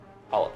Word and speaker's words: challah: I know it's spelled funny, but that's how you say it, challah bread.